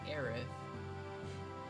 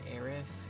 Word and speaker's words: Aerith: not Kitchi, it's K5th, it's not Eris, it is Aerith.